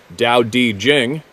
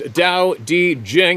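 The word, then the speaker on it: Tao Te Ching: man of the forest The Tao tea Chang States pronounced Dao di Jing there we go again why don't they spell it the way it says it sounds kidding pronounced Dao D Jing and I am paraphrasing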